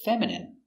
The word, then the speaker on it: feminine: The dog looks feminine, like a girl. Pronunciation, feminine. Fe, fem, femme, femin, feminine, feminine. Stress on the first syllable.